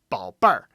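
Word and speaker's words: 宝贝儿: So yeah, it's 宝贝儿. And so a lot of times with adding the R after any particular pronunciation, sometimes, it can be a little bit confusing.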